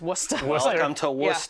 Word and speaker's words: Worcester: It's pronounced Worcester.